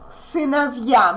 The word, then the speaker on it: сыновья: Сыновья. Сыновья. Here we get a soft sign. What does it mean? It means that we pronounce this consonant soft, v, and then we pronounce ya like in the alphabet.